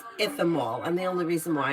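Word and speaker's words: Ichthammol: It's called if you want the best of the best Ithamol, but it looks like Ichthamol. But it's pronounced Ithamol, and the only reason why I know that is because I heard a dermatologist say it.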